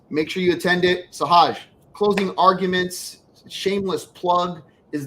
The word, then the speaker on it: Sahaj: Only I get to call him Sahaj. You all call him Sahaj. His name is Sahaj.